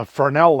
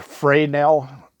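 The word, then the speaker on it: Fresnel: show my neighbor the fernell lens that's FRES and al and it's actually pronounced fray knell fraeno lens and if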